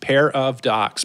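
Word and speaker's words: Pairadocs: it's Paradox podcast and let me spell that for you p a i r a d o CS pair of Docs pair of docs and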